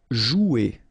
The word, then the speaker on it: jouer: Okay, remember you combine this O and U, you get the sound OU, so joue. Okay, J is pronounced like J, joue, and then ER here, you combine them at the end, E, jouer. Tourner.